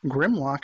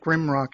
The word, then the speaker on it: Grimlock: not only Griselda, but her husband Grimlock. And I was pronouncing it Grimrock in the last episode because I guess the subs on the episode that I watched were a little off.